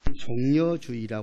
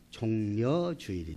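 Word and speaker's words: 종려주일: 종료 주의라 할 때에 어떤 사람은 잘못 발음을 해 가지고 종료 주의 라고 그런 사람이 있는데 결코 종료 주일이 아니라 종려 주일이 다루겠습니다 그래서 왜 종려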